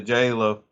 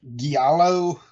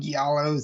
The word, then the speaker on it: giallo: But yeah, the J-Lo. Sorry, how do you say that? I hear it's like giallo. Giallo.